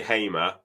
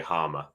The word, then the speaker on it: Hamer: Is it Hamer or Heimer? How do you say his surname? We say Hamer. Sky Sports, for some reason, say Harmer. But yeah, we all say Hamer.